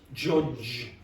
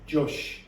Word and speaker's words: judge: Now, what you're doing is jush. Do you hear that? Okay, so do it again. Judge. Okay, repeat, Natty. Judge. So really the pronunciation problem is here. You're pronouncing more like a sh instead of a or a j almost.